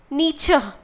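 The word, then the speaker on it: Nietzsche: there is another philosopher thinker his name is nature that's how it's pronounced n we e c h nature okay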